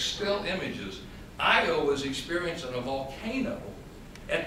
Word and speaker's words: Io: Jupiter has a moon called, just like it's spelled, I-O.